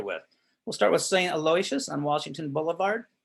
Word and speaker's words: Aloysius: contemporary of parducci's right next door to saint elisha although it's just we have the i'm sorry aloysius excuse me i always mispronounce that please forgive me right next door